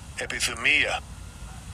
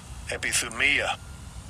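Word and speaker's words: ἐπιθυμία: And I'll give you a pronunciation of the word. Strongs. G1939. Epithemeia. Epithemeia.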